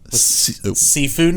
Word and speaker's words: Sifu: So Sifu is as much as it sounds like the word seafood, is...